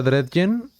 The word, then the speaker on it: Dredgen: Se pronuncia Dredgen. Eres el primero que lo dice bien. Ah, muchas gracias. Es que leí Dredge y luego dije, ah, chinga, no hay una N, se diría Dredgen.